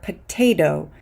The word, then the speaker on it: potato: aend or attempt or potato you'll hear in the last word potato I'm pronouncing the T in the stress syllable as a t but the T in the unstressed syllable is a d potato potato if you